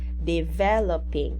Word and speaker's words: developing: so developing the stress the stress is at ve developing again developing very good uh